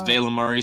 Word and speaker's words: Valimari: Also, it's Valimari specifically, so it doesn't rhyme with calamari.